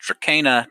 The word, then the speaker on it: Dracana: Yeah, in English, thanks to our plant expert Cole, we were all taught that it's pronounced Dracena. But they said that for their world building, they wanted it to be pronounced Dracana to point at the relation to the mythological creature, right?